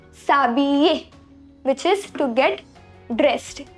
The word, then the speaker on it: s'habiller: So here you see H is not pronounced. And you already know double L is ye. So we say s'habiller, which is to get dressed in English.